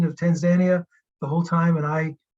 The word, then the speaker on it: Tanzania: sorry if you had the correct pronunciation of Tanzania the whole time and I contradicted that somewhere along the way but that's how they pronounce it Tanzania tanzanica Zanzibar um we were mostly uh in